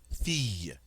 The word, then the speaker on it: fille: But in the word fille, which means girl, we can see that the double L is indeed pronounced like the Y in yes. Fille.